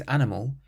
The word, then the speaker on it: animal: It means animal, and we stress the last syllable.